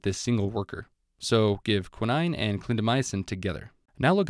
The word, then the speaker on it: quinine: This 9, plus the fact that she looks like a queen, represents quinine. I'm intentionally mispronouncing quinine to help you remember it better. It's actually called quinine.